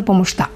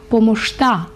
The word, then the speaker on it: помощта: Благодаря за помощта. Бачите, як красиво. Благодаря за помощта. До речі, ось ця буква «ща» в болгарській мові вимовляється як «шт». Благодаря за помощта.